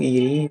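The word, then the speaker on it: Erie: ये से बना ईरी लेक, ये में वाई साइलेंट है, इसको ई से ध्यान दीजिए, ईरी लेक।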